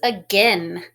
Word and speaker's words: again: I hear the schwa sound at the beginning of that word, again.